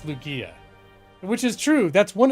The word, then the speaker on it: Lugia: Barbara's saying Lugia, or Lugia. Oh, okay. Lugia. Okay. But wait. Is that Lugia? G like gaming, Kink says. If I'm to trust Kink, it's Lugia.